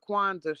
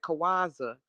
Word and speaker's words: Kwanzaa: and she didn't know how to say the word Kwanzaa. She kept calling it Kawaza, and that's when I